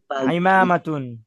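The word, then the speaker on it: عمامة: একটি পাগড়ি পাগড়ি পাগড়ি আইমাতুন একটি পাগড়ি পাগড়ি হামজা যেন না হয় হ্যাঁ এটা আইন আইন আইনের মত উচ্চারণ করতে হবে আইমাতুন একটি পাগড়ি পাগড়ি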